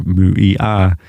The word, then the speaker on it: Muia: She says, this is how she pronounced her name. Muia. And her name means remember who you are. Muia.